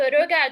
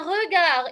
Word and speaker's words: regard: Ici, je ne prononce pas le D. Un regard. On a déjà travaillé les lettres finales muettes, n'est-ce pas? Ça vient du verbe regarder. Donc ici, le D n'est pas prononcé.